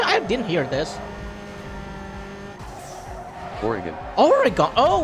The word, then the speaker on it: Oregon: Oregon. Oh, Oregon's yo. pronounced like origin with a hard G.